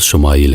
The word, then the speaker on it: اسماعیل: خوشخبری سنا دی گئی۔ عبرانی زبان میں اسماعیل کا تلفظ شمائیل ہے۔ شما کے معنی ہے